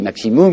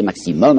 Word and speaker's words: maximum: Vous savez, aujourd'hui on dit maximum, mais ils disaient maximum, alors je prononcerai comme eux.